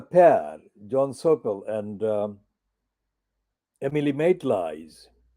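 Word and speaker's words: Maitlis: John Sopel and Emily Maitlies. Notice how I'm pronouncing her second name, Emily Maitlies, not Matlees.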